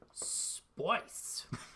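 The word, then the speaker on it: Spyce: Spice spelled like S-P-Y-C-E. Yep, it is release the Spice.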